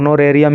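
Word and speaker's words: honorarium: होनोरियस इसका हो जाएगा गलत एच होता है इसमें साइलेंट तो नरेम इसको बोलेंगे और इसका मतलब होता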